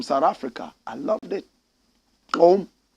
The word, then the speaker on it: Gqom: Koum. That's how they pronounce it. Koum. Koum. GQOM.